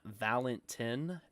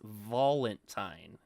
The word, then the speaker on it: Valentine: It's not Valentin. It's Valentine.